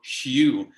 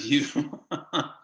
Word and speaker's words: Hugh: time when we speak french to say the h so i have to go hu instead of you you know i've worked